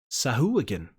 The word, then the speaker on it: Sahuagin: Well, I played the like soundbite on D&D Beyond to see how you say it, and apparently it's Sahuagin.